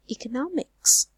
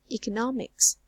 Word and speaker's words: economics: first syllable this word look at this word economics economics so how many syllables are there I suppose II could not mix so we have four syllables is right and we force it about the stress fall on the third syllable nah so you say